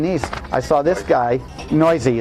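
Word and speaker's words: Neuse: I saw this guy, Noisy is how you say his name, sorry.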